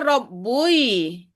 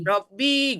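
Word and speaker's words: رَبِّي: Kalau Tuhan ku ku harusnya rabbui. Iya. Yang Rabbi kan susah bacanya makanya harakatnya menjadi ee rabbi gitu.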